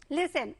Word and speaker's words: listen: लिसन, LISTEN, लिसन means सुनना। यहाँ पर S हमारा साइलेंट नहीं है, लेकिन क्या साइलेंट है बच्चों? T।